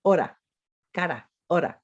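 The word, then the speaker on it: hora: of rose right but we also have an r that's the soft r so the word for face in spanish is spelled c-a-r-a and we pronounce it the word for our is h-o-r-a ora now say these words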